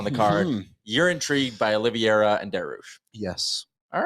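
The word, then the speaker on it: Oliveira: poster and I do not say his name Olivia do you know that one Olivia oliviera right Charles he is a Aaron you might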